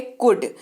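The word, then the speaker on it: could: जरूर होती है लेकिन एल जो है वो स्पेलिंग में साइलेंट रहता है इसीलिए उसका उच्चारण जो है वो कोल्ड नहीं कोल्ड किया जाता है क्या किया जाता है कूद इसका अर्थ होता है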